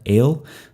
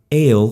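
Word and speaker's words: אֵל: Okay, the Semitic word for God, El, that's a tsere vowel. It's two dots side by side, a long E vowel. It's actually pronounced A, as in they.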